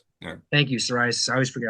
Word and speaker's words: psoriasis: It's spelled P S O R I S. Psoriasis. Thank you. Psoriasis.